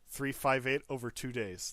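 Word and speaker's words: 358/2 Days: He said that is how you say it. 358 over 2 days. That is how you pronounce the title.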